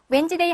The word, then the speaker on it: Wednesday: 제가 가끔 옛날에 웬즈데이 한번 써보세요라고 깜짝 키스를 한 경우가 많았거든요. 여러분도 한번 해보세요. 의외로 이 D하고 N하고를 위치를 잘못 쓰시는 분이 많답니다. 그래서 웨드네스데이라고 철자는 외우고 웬즈데이라고 읽는다.